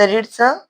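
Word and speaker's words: read: brought हव होतं इथ रीड दुसर रूप सुद्धा काय येत जरी रीड असल तर याचा उच्चार रेड होतो पण स्पेलिंग तेच राहत हा पर्याय काय आहे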